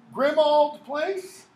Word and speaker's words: Grimmauld Place: of the order of the Phoenix number 12 pronounce the place Grimmauld place but a ulv is not pronounced old its